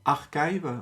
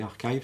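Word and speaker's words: arXiv: Et il m'a aidé, en tout cas, à développer un serveur MCP pour Archive, ouais, Archive, je pense que ça se prononce, c'est-à-dire ce site web de pré-print, de pré-publication de papier de recherche.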